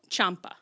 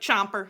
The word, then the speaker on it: Ciampa: We have a new man, and you're supposed to say his name, Tommaso Ciampa. Ciampa. Everyone is saying it really Ciampa. Chomper, like Chomper.